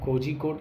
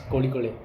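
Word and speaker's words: കോഴിക്കോട്: Generally हम कोजिकोड बोलते हैं, but that's not the actual pronunciation, that's कोड़िकोड़े। कोड़िकोड़े, हाँ, क्योंकि जो Z और H होता है वो तमिल और साउथ इंडियन लैंग्वेजेस में दैट इज़ समथिंग डिफरेंट। तो वो मतलब थोड़ा सा टंग ट्विस्ट करके तो कोड़िकोड़े बोलते हैं।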